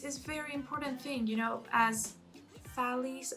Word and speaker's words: Thales: But this is very important thing, as Thales, I think he's pronounced Thales in English, the Greek mathematician, said, the most difficult thing is to know yourself.